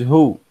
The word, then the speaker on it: who: with people Oh use hoo hoo hoo or announce the tool the W we don't pronounce it so here we write